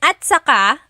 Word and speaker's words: at saka: Okay, and then at saka, technically it's spelled at saka. But when it's pronounced, remember the TS combination, it makes that ch sound.